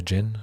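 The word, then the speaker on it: Djinn: on tempest dejin the jin jin the d is silent but i always like pronouncing it dejin tempest jin gets plus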